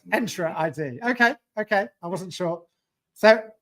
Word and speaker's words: Entra ID: It's called Entra ID, is it? Okay, thank you. I'm really. It's an invitation to enter. Okay. So it's Entra ID.